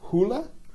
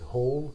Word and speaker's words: Hole: they would you know not be sure whether they should pronounce it whole or holy um and so um